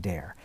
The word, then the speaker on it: Dahir: point out again that his last name is actually spelt d-a-h-i-r but it's pronounced dare and you're a spark